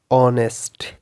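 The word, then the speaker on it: honest: एच और वो word start हो एच ओ एन से such as इन the word ऑनेस्ट ऑनेस्टी honour इस तरह के वर्ड्स ठीक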